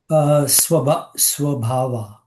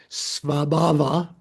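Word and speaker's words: स्वभाव: Swabhava. Swa, yeah, you want to say swa. SW. So SV, svabhava.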